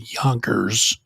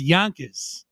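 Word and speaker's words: Yonkers: very Upstate New York you said Yankers and it's y it's yonas yon Yon you gotta say it right man you're right shout shout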